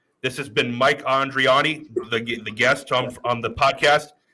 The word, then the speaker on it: Andriani: Mike Andri. Mike Andri. This has been Mike Andriani, the guest on the podcast, and this has been me, aka Mr.